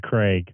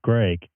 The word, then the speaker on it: Greg: that does bug me when someone calls me Craig I don't know why but that that's worse than spelling my name wrong um because it's not just it's not my name but I usually will correct them on that no Greg like if you like